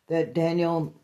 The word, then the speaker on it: Danielle: The next stop that Daniel, I spelled Danielle like Danielle, but it's pronounced Daniel, so I kind of go back and forth with pronunciation.